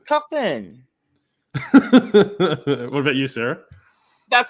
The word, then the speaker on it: Cockburn: It's Cockburn.